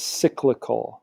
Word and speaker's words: cyclical: So the only bad type of unemployment is this, and how you pronounce it is cyclical. Cyclical sounds like business cycle, so you should be making that connection.